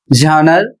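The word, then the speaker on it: genre: अगला शब्द है जी ई एन आर ई झनर और इसका अर्थ होता है शैली।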